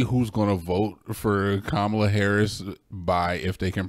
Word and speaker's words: Kamala: You can clearly see who's going to vote for Kamala Harris by if they can pronounce her name correctly.